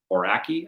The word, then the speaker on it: Aoraki: It's spelled Aoraki. Aoraki, I think is how I looked it up to be pronounced.